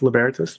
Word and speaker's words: Libertas: It's actually pronounced Libertas, but the phonetic spelling is L-I-B-E-R-T-A-S. It's Libertas.